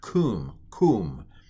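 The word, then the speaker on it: קום: This is pronounced kum, and it means rise.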